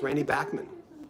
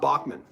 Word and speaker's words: Bachman: saying his name right Randy Backman yeah it's Randy Backman it's not Bachman but he does he even told me he